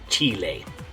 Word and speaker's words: Chile: in Spanish okay so in English chili in Spanish Chile okay now just so